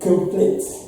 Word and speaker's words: complete: This sign here shows that there's a stress on the second syllable. So the first syllable is without stress. That is why we have the short sound. So it is complete, complete, complete.